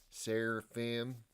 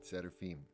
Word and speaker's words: Seraphim: And I said, well, for Americans that I meet, especially ones like Midwest South, it's like Seraphim, Seraphim, or just Seraphim. From the Russian traditional pronunciation, it's Seraphim, not with an N, Seraphim, Seraphim.